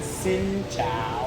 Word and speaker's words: xin chào: Yeah, xin chào. Oh, sin. Yeah, it's sin not zing. chow. No, I've been saying zing chow. It's sing. Everybody, like sing.